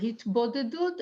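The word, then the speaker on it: התבודדות: Said to him, so it's a practice called in Hebrew hitbadadut or hitbadadut, which means, Yael, how would you translate that? I would pronounce it hitbodedut, and Okay.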